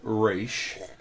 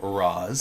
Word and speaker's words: Ra's: way yeah and then the cartoon took race and then Manola and trilogy went the route of Roz so the cartoon was Russ no the one raishin